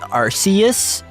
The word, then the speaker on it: Arceus: um excuse me it's actually uh it's actually pronounced arceus uh just i just i had you had